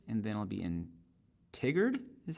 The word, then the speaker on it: Tigard: to Cottage Grove and then I'll be in Tigard is how they call it it's so interesting learning how to pronounce pronounce all these names then Eugene Oregon